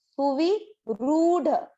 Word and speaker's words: सुविरूढ़: Same यहाँ पर वी की मात्रा छोटी है, तो इसको दीर्घ ना करें, और ये जो रू की मात्रा है ये है बड़ी, र की मात्रा, तो ये वाली मात्रा को अपने को दीर्घ करना है। सुवी सुविरूढ़, सुविरूढ़, सुविरूढ़।